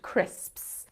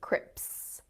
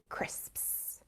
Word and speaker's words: crisps: for learners of english it's the s sound at the end crisps you'll find a lot of people mispronouncing them as crips grips when they should be crisps so here is the